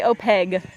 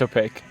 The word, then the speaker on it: opaque: on this New Jersey how do you say the word opaque opaque we'll say open q no some people say opeg no it's opaque yeah no I was right